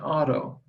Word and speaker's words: Odo: last name is odo my middle name is odo i pronounce it auto it's a germanic name all right just like